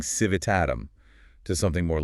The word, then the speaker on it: civitatem: So civitatem begins to lose its tail, but the heavy accent stays locked on that T sound. Exactly. People go from saying civitatem to something more like civitatem.